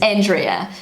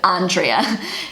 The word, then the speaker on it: Andrea: So everyone in New Zealand calls her Andrea. So I'm gonna try and pronounce that. Okay, one more time with Google. Andrea. Andrea. That was wrong. Andrea. Andrea. That is so hard. That is so hard for a native English speaker to pronounce.